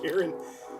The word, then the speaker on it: Charon: kind of creepy yeah look at that confirmed charon there it is oh karen karen pronounced character c-h-a-r-o-n i always thought it was chrome but yeah it's pronounced karen thank you yeah billy billy did billy gave